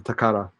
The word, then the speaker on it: Takara: yeah that's yeah exactly i give it the the japanese style pronunciation takara okay uh that's why